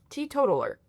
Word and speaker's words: teetotaler: Teetotaler. New word unlocked. Teetotaler. That's how you pronounce it.